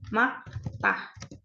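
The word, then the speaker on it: 맑다: itu kita bilangnya makta Jadi huruf r-nya kita hilangin cara bacanya Ya maktah cerah nah biasanya lain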